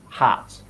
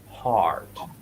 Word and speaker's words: heart: I heard concern, and I heard hat, heart, heart.